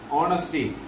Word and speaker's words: honesty: Honesty, and it is starting with H, but the H letter is silent there.